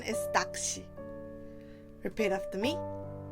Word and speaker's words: 낚시: We write 낚시 like this, but the pronunciation is 낚시. Repeat after me. 낚시.